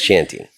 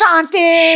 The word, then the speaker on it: Shanti: It must drive you crazy when someone says shanty. You know, the passive part of me sometimes is just like, fuck it, I'll let them. But then I'm like, no, Tom needs to know how to say my name right. I said it right. I didn't say it right when I went on stage, but afterwards. I should have yelled it from the audience. It's Shanti. Shanti.